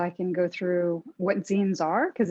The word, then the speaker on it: zine: can go through what zines are, because it's a kind of a new concept for a lot of people. And it's like the word magazine, Z-I-N-E is how you pronounce it.